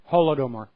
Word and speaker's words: Holodomor: Holodomor, I believe, is the pronunciation. Yeah, I think you say it with like a guttural R if you're from the region.